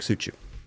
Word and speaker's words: Suciu: Mark Suciu.